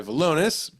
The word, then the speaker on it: Valonis: So it's not Valonis, it's Valonis.